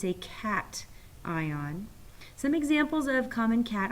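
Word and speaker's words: cation: ions and negative ions this word is pronounced cat ion and to help you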